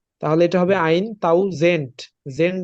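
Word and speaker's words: tausend: আলফাবেটের ক্লাসে আপনারা পড়ছেন টির মতন উচ্চারণ হবে রাইট টির মতন উচ্চারণ হবে তাহলে এটা হবে আইন তাও জেন্ট জেন্ট না কিন্তু জেন্ট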